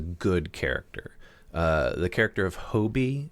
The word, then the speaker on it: Hobie: The character of Hobie, is that how you would say his name, Hobie? I would say Hobby, but hey, whatever.